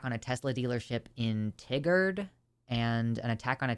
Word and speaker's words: Tigard: consequences like do they it's pronounced like tiger Tigard God I'm so tired